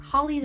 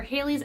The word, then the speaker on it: Halley's: my previous videos, and apparently I said the name wrong. Sue me. I'm sorry, guys. I mean, I thought it was Holly's or Haley's.